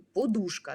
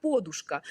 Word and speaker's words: подушка: Ми змушені говорити що правильний наголос на у подушка так і ми навіть віршик такий ну вигадуємо подушка має вушка але насправді в Україні більш поширеним наголосом був Ось цей на О так подушка і Чому так Тому